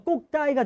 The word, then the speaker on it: cocktail: 근데 이 발음이 칵테일인데 프랑스어로 발음하니까 꼭따이가 된다고요.